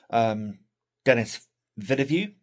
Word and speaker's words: Denis Villeneuve: Going to watch Dune 1 and 2, the part 1 and 2, the most recent Denis Villeneuve, is how you pronounce his name, movies.